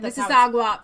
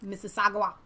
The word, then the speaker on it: Mississauga: assists mississagua I bet mississagua that design well that was good I was pronouncing like the Mississippi and then I was mississagua restaurant that wounded over